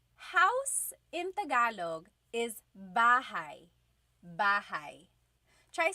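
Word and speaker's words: bahay: You might notice that the spelling is a y at the end. So it looks like bahi, but it's pronounced bahigh. That ay combination is bahigh. Bahai.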